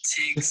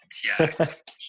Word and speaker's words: Tiagz: Realized, like for real, on a serious note, nobody can pronounce my name. It's either Tiagz, Tigs, the worst one. Tits, bro. Tiagz. Tiagz. It's like a T.